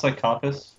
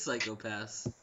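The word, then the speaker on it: Psycho-Pass: Are you sure it's not pronounced Psychopath? No, I'm fairly certain it's Psycho Pass. Okay. Especially because there's a hyphen, so it's not one word.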